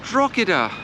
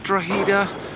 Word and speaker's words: Drogheda: to my channel and you join me in drachida or some people call it drogida i think the locals call it drowder whichever you put whichever way you pronounce it i'm in ireland in the town of drahida i call it drahida because that's what i was told to call it by my irish friends and it's a delightful